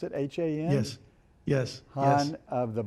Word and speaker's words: Han: I guess that's the way you pronounce it, H-A-N?